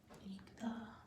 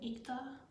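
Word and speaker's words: 읽다: How do we pronounce this word? Ikta. Say it again. Ikta.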